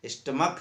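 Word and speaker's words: stomach: अगला नियम मैंने बताया था, यदि किसी नाउन के अंत में सी एच हो और उसका उच्चारण का हो, तो बहुवचन बनाते समय एक्स यस जोड़ देते हैं। जैसे मोनार्क है, मोनार्क का मोनार्क्स होता है, स्टमक है, स्टमक का स्टमक्स होता है।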